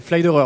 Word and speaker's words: Pfleiderer: Vous êtes directeur des ventes nationales de Flederer. C'est ça. C'est bien prononcé. Bien prononcé. Flyderer, on est quasiment.